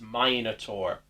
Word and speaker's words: Minotaur: sends her Minotaur monster, which they mispronounce the name of. It's the most menacing Minotaur. Nice alliteration, but it's Minotaur.